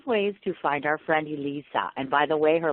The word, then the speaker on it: Eliisa: Eliisa. Eliisa. So it's That's like what I thought. It's like Lisa. It's like Lisa with an E. So Eliisa.